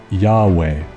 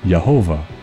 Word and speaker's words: Yahweh: are in agreement that he's currently pronounced Yahweh or yahovah depending on the manuscript you read well now that you